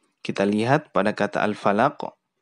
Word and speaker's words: Al-Falaq: Pertama ada huruf fa ya. Penyebutan huruf fa itu gigi atas bertemu dengan bibir bawah. Kemudian diucapkan dengan hamas. Hamas itu ada hembusan udara yang keluar dari tempat keluar huruf tersebut. Fa. Fa.